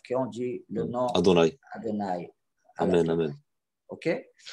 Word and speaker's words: Adonaï: Adout, c'est pour pas prononcer Adonaï. C'est ça. Adonai. Oui. C'est-à-dire c'est la façon qu' qu'on prononce le nom Yud Kevavk. Chaque fois qu'on le voit, on dit Adonai.